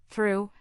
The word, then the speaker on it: through: It is silent in words like though, through and light.